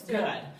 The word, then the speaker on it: Pfister: I think that looks Pfister. good. That looks good. Some of these It's a last names. Pfister. Pfister. Kind of rhymes with fish, so I think Fish, so.